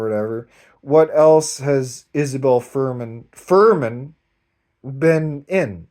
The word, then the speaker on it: Furman: Much love to Isabel Furman, right?